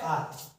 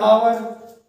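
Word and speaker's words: hour: तो इसे हम लोग जो है एच हमारा जो है साइलेंट है, ओ भी साइलेंट है, लेकिन ओ जो है आर, 12 आर, 10 आर, 6 आर, 4 आर, 7 हॉर, हॉर तो पढ़ते नहीं इसको, आर, हॉर्स, हॉर्स क्या है हमारा?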